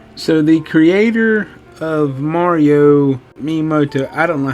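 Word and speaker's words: Shigeru Miyamoto: have been awesome so the creator of Mario mimoto I don't know how to say his name hey Bob how do you say his name shagu mamoto heard about this and liked it so it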